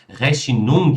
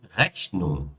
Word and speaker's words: Rechnung: Ou seja, esse ung, ele nunca é pronunciado forte, né? Pronuncia então só como Die Rechnung, die Verbindung, die Mitteilung, die Abteilung, die Befreiung, ou seja, não tem g nem k, tá?